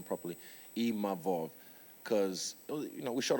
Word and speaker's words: Imavov: And I'm grateful to even Nasruddin Imavov, sorry, I learned how to say his name properly, Imavov, because, you know, we shot a fair one, he beat me.